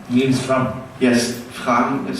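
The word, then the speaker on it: Frahm: I love listening to Niels Fram, who's think he's a piano player, but he's like an experimental DJ kind of, but he improvises on piano.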